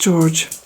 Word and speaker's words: Jorge: Storm, I think it's pronounced Jorge, but anyway, I suppose in English it's pronounced George.